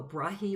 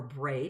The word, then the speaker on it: Brahe: Two of the most interesting characters in the history of astronomy, Tycho Brahe, or Brahe, depending upon how you pronounce it, and Johannes Kepler.